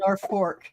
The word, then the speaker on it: Norfolk: pronounce it Norfolk, like it's a fork.